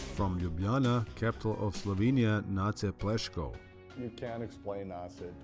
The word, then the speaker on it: Nace: Nace's name is often mispronounced as Nace, which is actually his older brother's name, spelled N-E-J-C.